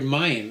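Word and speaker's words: מים: to god almighty now even the hebrew word mayam is an allusion to the depth and sanctity of the torah the word is spelled mem yud and a final mem and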